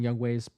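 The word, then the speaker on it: Younghoe: uh and you probably know this am I mispronouncing young Way's name no it's young way it's young way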